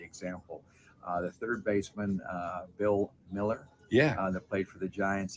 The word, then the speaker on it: Mueller: When you look at his name, I always thought it was Muller. Right. That's it. Well, we called him Bill Mueller. We called him Bill Mueller for 3 years in the minor leagues until his mom family came over and heard him announced as Mueller, and she cleared it up, and then we changed the pronunciation.